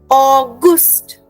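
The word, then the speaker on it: August: German will be different for German the pronunciation is ऑगस्ट ऑगस्ट okay you know how वी से ऑ similar to that ऑगस्ट okay remember it that way ऑगस्ट alright everybody follows ऑगस्ट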